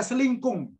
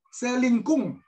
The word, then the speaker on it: selingkung: nulis itu tergantung gaya selingkuh penulis bukan gaya selingkuh Bu maaf biar biar jelas gaya selingkuh nanti bacanya ngajarin gaya selingkuh tidak selingkung nah ini saya ulangi lagi